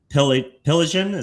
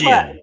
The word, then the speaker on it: Piligian: guest for you guys today, Piligian. Am I pronouncing that right? Piligian. But you're close. Piligian.